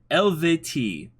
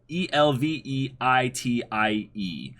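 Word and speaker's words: Eluveitie: The band name is pronounced, according to Wiki, Elvetii. Elvetii, Elveitie. Gotcha. Nobody really knows the correct pronunciation for sure, and not even the band itself.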